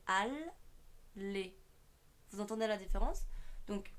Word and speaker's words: Alexandre: C'est pareil dans Alexandre. On dit pas a les, c'est al les.